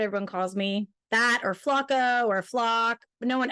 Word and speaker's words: Flach: It's pronounced flock, like flock birds.